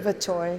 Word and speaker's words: Verteuil: Verteuil.